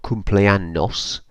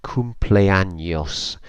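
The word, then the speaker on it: cumpleaños: ER so it's not cumpleanos you might have noticed when I pronounced that word it's come play a Neos so the N becomes like an NY near comply años and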